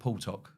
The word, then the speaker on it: Puwtok: "Oh, no, let's call it Pew Talk, not Tik Tok, Pew Talk."